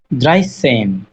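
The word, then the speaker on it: dreizehn: Elf, twelve, ড্রাইসেন। ড্রাইসেন মানে হচ্ছে এভাবে হচ্ছে 3 এবং 10, ঠিক আছে, এরকম করে হ্যাঁ। ওদের হ্যাঁ, চিঠিটা হচ্ছে 3 এবং 10। ড্রাইসেন, ড্রাই এখানে জেড হয়ে সেন।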